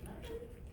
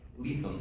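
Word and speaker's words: Lethem: Is it Levin? Lethal. Oh, we see I've been mispronouncing Lethal, this like whole lethal.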